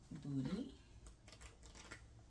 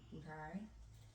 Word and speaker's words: Budai: Alright, we have Booty. I'm not even saying it right. But hi, Buddha. This is Buddha. Budai. That's what it is. Budai. I'm saying Booty. Budai.